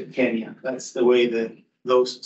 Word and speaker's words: Kenya: Out of Africa Mar Street Robert R for pronunciation of Kenya now you don't say Kenya if you go to Kenya unless you're a British settler you say Kenya that's the way the those swah speakers like